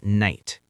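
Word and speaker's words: knight: The word night, K-N-I-G-H-T. How do you say it? Night. Just night. What is the K doing there? What is the G-H doing? They are doing nothing.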